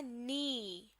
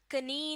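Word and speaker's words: knee: N double E और यह word बन जाएगा नी कडनी नहीं बल्कि ईंधन कहते हैं घुटने को शो मी के स्पेलिंग में तो लैटर के लाजमी आएगा लेकिन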